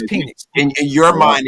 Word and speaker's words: Penix: It's Penix. Penix. Call from Bro, you just wanted to be Rebel. Penix. It's Penix. It's Penix, bro. Bro, it is Penix, bro. Okay? No, it's not, bro. Bro, it's Penix.